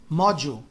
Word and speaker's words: module: Essa palavra aqui que é super interessante, esse módulo aqui, que se escreve como module, eles pronunciam lá como module, module.